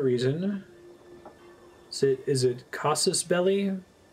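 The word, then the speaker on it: casus belli: is it is it casus belly that's how you pronounce it it's the same belly in parabellum various ways to obtain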